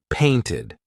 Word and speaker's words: painted: If a verb ends in T or D, the ed ending will be pronounced ID. Want ends in a T, wanted. Need ends in a D, needed. Pasted, painted.